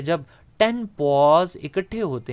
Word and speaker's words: poise: आप इसको ठीक प्रोनाउंस कीजिएगा, ये मैंने जो लफ्ज़ बोला इस पे गौर करें, पॉज, ठीक है, प्रॉपर लफ्ज़ है पॉज।